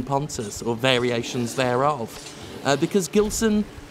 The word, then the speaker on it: Pontes: over and over again, with different pronunciations of the surname. Gilson V. Pontes, some have said Pontes, Pontis. I don't know. I've always said Pontes.